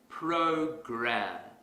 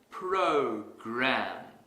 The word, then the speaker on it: program: to our previous example suppose I pronounce this word as poker that's incorrect because the our sound is missing if I want to fix this mistake quickly I will exaggerate the R sound program program program here's another example let's